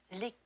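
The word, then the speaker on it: liqueur: don't care for liquor when referring to a cordal we use the French pronunciation lior Miss Tinsley I shouldn't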